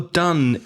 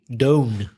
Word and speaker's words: done: do did done now although done is the o-n-e the pronunciation is exactly the same as a vowel sound in cuts it's ah so do did done which isn't logical you would expect it to be domed but it isn't it doesn't that's why